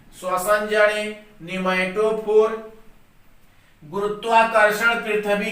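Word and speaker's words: pneumatophore: ध्यान देंगे, P silent है। न्यूमैटोफोर।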